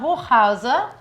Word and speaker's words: Hochhauser: Crime correspondent Yona Hochhauser. And last, that's how you pronounce it in German.